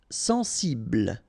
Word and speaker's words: sensible: Sensible. Okay, final E not pronounced. Bl will be the last sound.